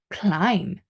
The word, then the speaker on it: climb: some letters number one the silent B so B is not pronounced when following M at the end of a word word for example climb to climb the stairs